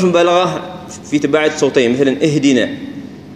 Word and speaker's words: اهدنا: اهدنا اهدنا اهدنا، يعني بعض الاشخاص يقول الالف ضعيفه والهاء ضعيفه فيدمجهم مع بعض، اهدنا اهدنا، لا هي اهدنا، يعني تحس كان في ايش الهاء عليها يعني شويه بعض النطق تظهرها شويه.